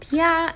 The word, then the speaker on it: Oia: in this area because it's pretty close to Oia, which actually is pronounced Pia, and to other cities such as Piero Stefani and Imerovigi. You just came back from Oya and it's our first day in here, and